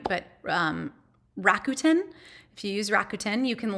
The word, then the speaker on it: Rakuten: So you can actually link if you use, I never pronounce them right, but Rakuten.